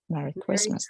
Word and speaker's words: Merry Christmas: you yeah Merry Christmas Merry Christmas Christmas so that would be more like an at like regular stress Merry Christmas with stress on the second word thank you very Merry